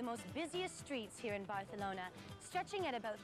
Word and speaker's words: Barcelona: our beautiful Spanish ports the actual correct pronunciation of Barcelona is Barcelona like the Spaniards say Barcelona is Spain's second